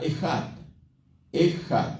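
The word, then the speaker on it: אחד: en el hebreo es la palabra eat eat así como la estoy pronunciando e J a d e Qué significa unidad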